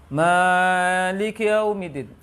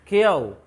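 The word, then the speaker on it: مَالِكِ يَوْمِ الدِّينِ: Tidak jelasnya pengucapan huruf kaf. Maliki yaumiddin. Kiyau. Salah ya. Maliki yaumiddin. Kesalahan kedua. Pengucapan ya yang fathah terbaca yo. Karena apa? Itu catatannya. Catatannya pengucapan ya, harokat ya terbaca yo. Apa penyebabnya? Karena terlalu segera atau cepat memonyongkan bibir.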